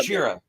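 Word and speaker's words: ゴジラ: Gojira. Yeah, Gojira is what gorilla. he's. Yeah. Yeah, which is the Japanese pronunciation.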